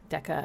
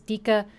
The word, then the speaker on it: Decca: Deca and and I was going to spell it with one C but then I thought people might might possibly read it as Dika which isn't bad but it didn't feel right. So I put two C's and that's kind of